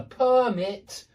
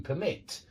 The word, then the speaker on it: permit: The stress changes. It's on the first syllable in 2-syllable nouns, and it's on the second syllable in 2-syllable verbs when we use the same word for the noun and the verb.